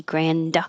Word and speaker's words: grand: You're not going to pronounce the D grand, so your tongue just holds it there, which is the same position as the N, so it's going to sound like grand.